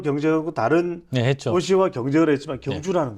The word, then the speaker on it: 경주: 그 다음에 옌징 이런 데가 문제가 아니라 이야 한국의 경주. 예. 물론 미국 사람들은 발음을 할 때 옌주 이러지만 예.